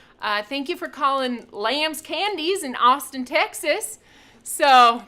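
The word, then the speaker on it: Lammes: and it said uh thank you for calling Lamb's candies in Austin Texas so that's a really poor accent from the South but yes Lamb's candies is how you do pronounce that and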